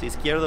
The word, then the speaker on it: Izquierdo: with at IZQRDO, or that's pronounced as Izquierdo, but whatever.